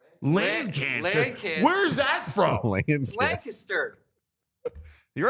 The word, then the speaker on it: Lancaster: s t e r how do you pronounce it Lancaster or Lancaster lter thank you Joey Lancaster the chat is on my side though one person no one Lancaster says L Lanter yes yes land cancer where's that